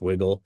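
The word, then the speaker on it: WGLL: is the wiggle right WG l l pronounced wiggle which is what good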